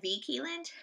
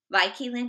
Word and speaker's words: Vi Keeland: And she said, I say it's Vi like Vi. And so Vi Keeland it is.